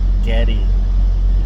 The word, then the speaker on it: Geddy: His name was actually Gary, but she pronounced it Geddy.